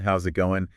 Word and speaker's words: how's it going: Native speakers often link the words, so it sounds more like, how's it going?